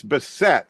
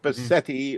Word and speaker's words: Bissette: And it's bet not Betti or Basset.